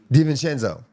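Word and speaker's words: DiVincenzo: How you pronounce his last name again? Dvenenzo.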